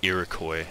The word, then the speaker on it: Iroquois: their actual name so the actual name of this civilization is the Iroquois this is a typo